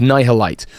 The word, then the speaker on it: Nihil Light: Also sounds like annihilate. I kept saying it wrong in earlier videos, but it's nihil light. No more light.